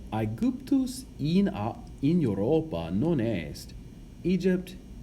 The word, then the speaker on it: Aegyptus: Now, Aegyptus, the Y is the Greek letter Llpsi. Now, Llpsi is, if you want to say it, it's kind of a cross between an I, a short I in English, and a short U in English. So a cross between I and U.